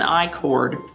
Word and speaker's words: i-cord: are knitting a an i-cord which is spelled letter i space c-o-r-d the word chord so it's letter i chord that's a kind of